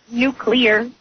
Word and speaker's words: nuclear: It goes NU.CLE.AR, right? Yeah. Uh-huh. And then it has, like, the little how you spell it, how you sound it out. Yeah. It goes NOO, the accent on the NOO.